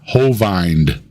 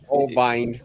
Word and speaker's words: Hovind: Like he used a long I sound for Hovind, and then used the E sound that I makes for Dino. Dino.